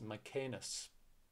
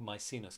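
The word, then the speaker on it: Maecenas: of his left hands my canis or my scene is depending on your pronunciation they cut they cultivated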